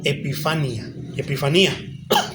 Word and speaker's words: epifanía: Refiriéndose al mismo evento, encontramos en algunos lugares el término epifanía, tiene acento en la I segunda, utilizado, por ejemplo, en